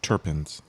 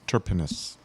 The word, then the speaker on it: terpenes: I think it's terpenes. Terpenus. Like great turtles? There's no E Terp between the R and the P. penis. Well, I've also heard it pronounced terpenes, And I don't know if that's right. It's closer than your first one.